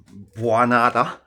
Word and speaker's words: Bwanada: So some of you will know about my Bwanada, that's how I pronounce it, which is basically a Mark 1 Granada coupe that is being welded over the top of a BMW E39.